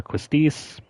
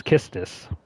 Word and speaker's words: Quistis: If you were like me, you probably grew up calling her Quistis, but I guess the correct quote-unquote quote-unquote correct pronunciation is Kistis.